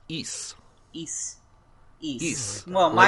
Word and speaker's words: Ys: And I played, well, the first thing is that it's not pronounced Ys, it's pronounced Ys.